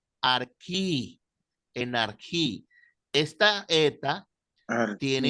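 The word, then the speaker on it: ἀρχή: la transliter como J pero la pronunciación griega es más como una una una K suave Arqui en arí esta eta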